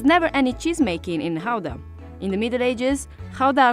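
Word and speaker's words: Gouda: this one behind me depending on whether you're a native you will pronounce it either GAA or Howa so since we're talking about authentic Dutch cheese we're going to call it Howa the cheese takes its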